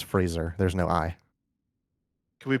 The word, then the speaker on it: Fraser: he was in Tarzan people mispronounce his last name as Frasier it's Fraser there's no I can